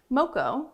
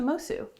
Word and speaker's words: Moço: into my drag name moko when did it change to mosu true i started going by the portuguese pronunciation of my last name when i moved to